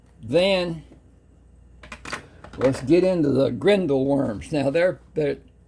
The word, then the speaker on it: Grindal: Then, let's get into the grindle worms. Now there they're spelled G R I think E, maybe I N D A L. So it's pronounced Grenindall like D O L L.